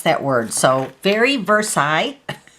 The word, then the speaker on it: Versailles: is the brand new stamp set called very Versailles and when I looked up this word right here on the Webster's dictionary online that's how you pronounce that word so very Versailles it's actually a suburb of Paris and I